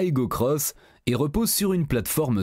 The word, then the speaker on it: Aygo X: fait désormais cavalier seul elle s'appelle désormais igo x que l'on prononce à Hugo cross et repose sur une